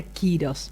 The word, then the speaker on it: Kýros: misma edad y bueno quirós vienen en honor a nuestro hijo antiguamente el emperador persa ciro el grande en antiguo persa se pronuncia quirós entonces de ahí viene